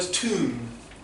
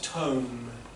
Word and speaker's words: tomb: Pronunciation of the word tomb. Tomb, not tome.